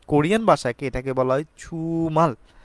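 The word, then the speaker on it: 주말: প্রশ্নতে দেখতে পাচ্ছি আমাদের ছুমাল ছুমাল মানে হচ্ছে সাপ্তাহিক ছুটি বা সাপ্তাহিক প্রান্ত আমরা বলতে থাকি অর্থাৎ কোরিয়ান ভাষাকে এটাকে বলা হয় ছুমাল জিওতে এবং সিওতের মাঝামাঝি স্থান রেখে উচ্চারণ করা হয়ে থাকে অনেকে বলেন জুমাল আবার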